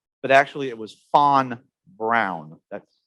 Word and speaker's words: von Braun: know werner fawn brown i know everybody says von braun but actually it was fon brown that's how you pronounce it an exact uh the the actual